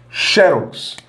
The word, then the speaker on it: xérox: é nesse primeiro caso xérox claramente a sílaba tônica é essa eu coloquei um assento xerox essa aqui é mais forte terminada em x segue a regra do tórax que nós vimos quase